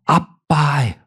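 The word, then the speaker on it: ἀββά: 그냥 아버지가 아니에요.이 아바라는 단어 헬라어로 아빠예요. 신기하죠? 한국어와 발음도 비슷해.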